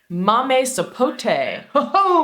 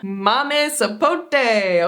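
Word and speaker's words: mamey sapote: Latin American countries yum how do you say it samame sapot Mame sapot I got that one wrong no Mame sapote okay so this has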